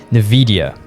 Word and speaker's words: Nvidia: future of gaming personified in the company of navidia i hope i'm pronouncing that right and they have just launched